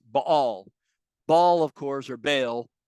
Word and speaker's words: Baal: So for instance, one example would be, let's say, Baal, or as it's properly pronounced, Baal.